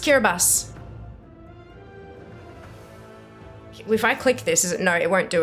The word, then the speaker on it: Kiribati: I've been pronouncing it absolutely wrong. It's pronounced Kiribati.